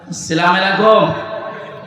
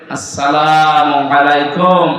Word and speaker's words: আসসালামু আলাইকুম: সহ বিশ্বের বহু দেশে এই সালাম শব্দটা এখনো শুদ্ধ উচ্চারণে হয়নি শিক্ষিত মানুষ আমরা দেখি এরা সালাম দেয় আসালামু আলাইকুম যারা জবাব দেওয়ালাইকুম এটা কি মারা জিনিস নাকি জান্নাতের ভেতরে প্রবেশ করার সময় এই শব্দ দিয়ে আপনাকে সম্ভাষণ জানাবে ফেরেশতারা সালাম আলাইকুম শান্তির সাথে প্রবেশ করেন এ শব্দটাকে যারা এখনো পর্যন্ত উচ্চারণ শেখেননি তাদের কপাল নষ্ট হওয়া আজকে থেকে ঠিক করে নেবে আসসালামু আলাইকুম আদম থেকে শুরু করে